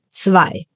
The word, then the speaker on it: zwei: Zwei. Zwei. The German Z is called Z because you read it as an ts. Like in cats or tsunami or pizza.